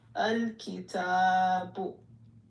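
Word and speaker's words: الكتاب: So you pronounce the lam in the second one.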